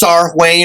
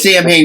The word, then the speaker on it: Samhain: more experimental band Samhain, which is actually supposed to be pronounced Sarwayne or something like that, but they pronounce it Samhain because that's just like, we don't know early Celtic language or whatever.